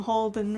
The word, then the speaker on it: Holden: Become Holden rhymes with golden.